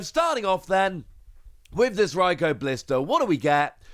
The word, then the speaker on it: Raikou: So let's start off with a new Raikou Blister. Raikou being one of the most commonly mispronounced Pokemon. It's not Raikou, it's not Raikou, it is in fact Raikou.